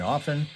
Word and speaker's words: often: I always pronounce the R in February, never pronounce the T in often, and we lost a little weight.